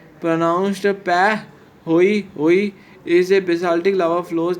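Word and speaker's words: pahoehoe: Pehoi Hoi pronounced Peh Hoi Hoi is a basaltic lava flows that has a smooth and twisty rope-like surface.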